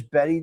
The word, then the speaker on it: Bette: She was named after legendary actress Bette Davis. But, how did they change it to Bette? Okay, I don't know. However, while Davis pronounced her first name Betty Davis, Bette Midler's family pronounced it Bette, b e t t e.